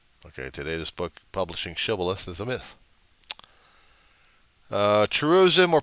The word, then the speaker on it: shibboleth: Gileadites would pronounce the word shibboleth, but Ephraimites said sibboleth without the H in there.